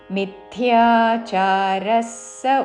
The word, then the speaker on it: మిథ్యాచారః: ఇంద్రియార్థాన్ విమూఢాత్మా విమూఢ మహాప్రాణాక్షము ఢా విమూఢాత్మా ఇంద్రియార్థాన్ విమూఢాత్మా మిథ్యాచారः స ఉచ్యతే. మీ పక్కన మహాప్రాణాక్షము థాకి యావత్తు మిథ్యా కాదు మిథ్యాచారస్ విసర్గ ఉచ్చారణ స మిథ్యాచారస్ స ఉచ్యతే సహ్రస్వము వెంటనే ఉచ్యతే మిథ్యాచారస్ స ఉచ్యతే.